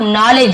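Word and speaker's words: knowledge: खजाने दूंगा, ऑफ नॉलेज, जिसे नॉलेज पढ़ेंगे, डी साइलेंट रहता है, ठीक है, एल भी साइलेंट रहता है, केवल sorry L silent, D silent रहता है, नॉलेज और ये के साइलेंट रहता है, के और यहाँ पे डी साइलेंट है, केवल नॉलेज ऐसे पढ़ेंगे।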